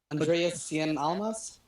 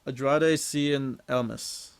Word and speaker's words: Andrade Cien Almas: Andreas Cien Almas? No, Andrade Cien Almas.